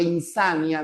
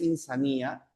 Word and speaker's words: insania: Besia es locura, igual que insania, no es insanía.